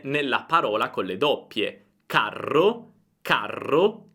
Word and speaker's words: carro: Carro, carro, caro, caro. Senti la differenza? La A è molto più breve nella parola con le doppie. Carro, carro, caro, caro.